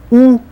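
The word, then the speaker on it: у: U, u, u. Just like o, but with a smaller hole that you make with your mouth.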